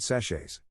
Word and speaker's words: sachet: cup of this tea i think sachet rhymes with hatchet so we're at a